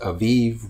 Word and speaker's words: Abib: during the month of abeed so i actually have read it i just probably pronounced it wrong well sometimes it's pronounced aviv with a v as in victor but you probably just